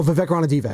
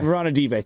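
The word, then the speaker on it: Ranadivé: How do I pronounce it? Rondé Barber? No, Vivek. Oh, Vivek Ranadive. Ranadive, thank you.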